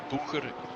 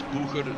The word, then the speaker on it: Boeger: Boeger, it's Boeger. It's Eurobeat intensifies, and they are German, so it's Boeger that I should pronounce it.